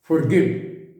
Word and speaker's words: forgive: अंग्रेजी में है, FORGET, FORGIVE। हम कैसे बोलते हैं? forget, forgive, इनका प्रोनाउंसिएशन गलत है। कैसे बोला जाना चाहिए? forget it। मैं आर भी नहीं बोल रहा, ओ को ओ बोल रहा हूं।